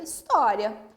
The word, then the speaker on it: história: A história. Então, is-to-ri-a. Proparoxítona, sílaba tônica, to.